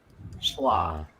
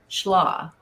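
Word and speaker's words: Schlage: Um, so Jeff 21 said the in when we talking about the schllo, so it says the e is silent. So that's how most say it. Schlaw. Schlaw.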